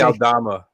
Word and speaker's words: Aldama: Aldama. Thank you. I knew you would know his name.